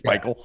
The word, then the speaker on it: Pikiell: He has the weirdest spelling of his last name for the way it's pronounced. Yeah. Right? Isn't his last name spelled like Pikiell or some shit, and it's Peichel?